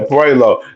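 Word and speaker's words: Puello: I know a little bit about Matias but not about um what you pronounce it po. Yeah, Puelo.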